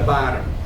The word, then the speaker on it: bottom: and T's said fast if you say them fast they sound alike so someone may say at the bottom that's not how it's spelled bottom bottom with Double T same with this word